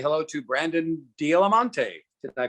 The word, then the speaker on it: D'Alimonte: say hello to Brandon Dialamonte. Did I pronounce that name correctly, Brandon? Yeah, that was pretty good. So, what do most people say? Usually Del Monte, like the pineapples. So that's pretty annoying. Dialamonte is much more, regal